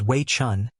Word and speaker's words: Wei Chen: microphone the witness said my name is way Chun spelled as Wei and C hen the court said so